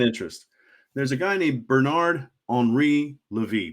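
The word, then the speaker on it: Bernard-Henri Lévy: There's a guy named Bernard Henri Levy, Bernard Henry Levi, in more white guy English pronunciation.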